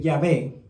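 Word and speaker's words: Yahweh: todas las letras mayúsculas Entonces esta a realmente no se pronuncia tan abierta como en español se es como medio camino entre la a y la e e Entonces si si la pronunciamos como e más que como a y obviamente la J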